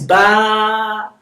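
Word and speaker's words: با: But if I put ba and I put nothing on the alif, this alif is elongating the ba. This is ba.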